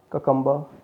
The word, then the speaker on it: cucumber: Okay, it's not cucumber, it's cucumber. In English, the last the R which came at the last of the word, many times it is not pronounced.